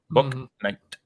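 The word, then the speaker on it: Bouknight: I would say Boo Night because, well, I mean, that's what it says. But Book Night is how it is pronounced, I believe.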